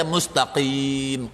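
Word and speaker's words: مستقيم: Sudah kita baca mustaqim qof bukan bacanya gof.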